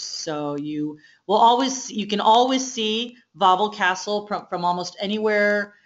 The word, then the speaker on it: Wawel: Now what you're seeing is Wawel Castle. So nothing in Polish is spelled like it sounds. Wawel is spelled W-A-W-E-L. So W's are pronounced like V.